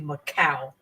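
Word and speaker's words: Makah: M A K A H, but the H in their language has a W sound, so it's actually Macau.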